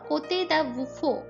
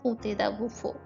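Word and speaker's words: Comte de Buffon: ফরাসি গবেষক কোতে দা বুফো, এটা হচ্ছে ফরাসি ভাষায় উচ্চারণ, অনেকেই এটাকে বাফনও বলে থাকেন, কিন্তু ফরাসি ভাষায় এর উচ্চারণ হয় কোতে দা বুফো।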